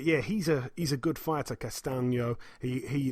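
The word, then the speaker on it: Castaño: Patrick Teixeira, 31-1, defends his WBO World Super Welterweight title against Brian Castano, or Castagno, it's actually pronounced. 16-0 with a draw, like I say, Castagno.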